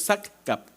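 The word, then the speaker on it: sascab: Es Sascap, le decimos Sascap, pero es Saccap, ¿no?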